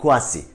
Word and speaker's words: Kouassi: video olarak o tarz durumlarda couvas iyiymiş evvah kuasi okunuşu Bu en son söyleyelim merak ediyorsunuz merak ediliyor